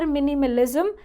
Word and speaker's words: minimalism: The pronunciation is here, minimalism. There is Z sound in the end, minimalism.